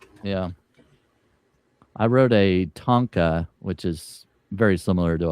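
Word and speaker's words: tanka: Yeah, I wrote a Tonka, which is very similar to a haiku. It's a tonka track.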